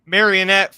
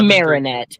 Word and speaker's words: Marinette: Alonzo says Christina V voiced as ladybug AKA marionette from holy I'm not going to be able to read that Marinette yeah it's Marinette from miraculous ladybug and Cat